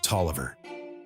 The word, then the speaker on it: Taliaferro: The lot was owned by Richard Talia Pharaoh, a wealthy planner, colonial architect, and builder whose last name was thought to have been commonly pronounced in colonial Virginia as Toiver.